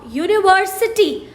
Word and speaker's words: university: words like user uniform university union although it starts with a vowel u but the sound is y double o u which is a consonant sound so we we will